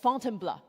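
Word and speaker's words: Fontainebleau: So after Paris, Paul took me just outside the city to a forest park for called Fontenbl. This is how he taught me to pronounce to try out our mountain filter.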